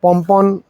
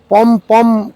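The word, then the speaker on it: pompon: আমরা অনেক জায়গাতেই পমপম কথাটা ব্যবহার করতে শুনি। কিন্তু সঠিক উচ্চারণ পমপন।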